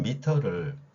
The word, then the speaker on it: 미터: 그럼 미터와 메다는 서로 다른 말이냐? 그렇지 않습니다. 이 미터라는 표현에서 가장 핵심적인 글자가 어예요. 우리는 어 발음할 수 있죠. 자, 미음은 뭐 비슷하니까 빼고요. 그 다음에 메다로 읽었다는 거는 이 발음이 아니라 글자 이를, 미터의 이를 에로 읽은 겁니다. 이게 이제 일제강점기부터 영향을 끼친 건데요.